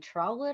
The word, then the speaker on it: Trotwood: excited, but when I saw it, the car was actually flooded in a Oh, middle school, like in Trotwood, I think it was.